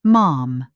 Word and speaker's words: Ma'am: Catherine arrived as Her Royal Highness the Duchess of Cambridge, and in formal settings, she was Ma'am, pronounced to rhyme with jam, after the first Your Royal Highness of the day.